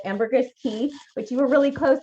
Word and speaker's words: Caye: We are on an island called Ambergris Caye, which you were really close, Anne, in that pronunciation. So Caye is like the car key, but it's just spelled differently. So C-A-Y-E is Caye.